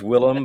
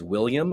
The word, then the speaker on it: Willem: of his name yeah it looks like it's Willam but he I heard him pronounce his own name is William I'm like have I been calling you William